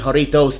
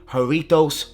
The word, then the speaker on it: Jarritos: speak Spanish so hey let me know if I'm pronouncing it correctly haritos haritos makes you guys you know pronounce that correctly it is actually fun